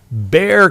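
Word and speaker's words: Bexar: b x a r i was corrected it's pronounced Bear County so the Bear County Sheriff deputies were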